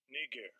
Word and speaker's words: Niger: Strong's G, 3526, Niger, Niger. That's how it's pronounced, all right?